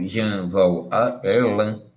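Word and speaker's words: Jean Val Ellan: Nós dissemos nos últimos vídeos que o Rogério ou Jean Valan, que é assim que ele se pronuncia, tem feito um grande sucesso, fazendo interpretações completamente equivocadas sobre Bíblia, Vendas e outras obras sagradas.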